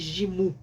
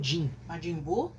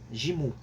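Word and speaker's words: ジム: Eh, no Japão ele é considerado como pronunciado como mais gimu, né? Não como jinimbu. Jimu.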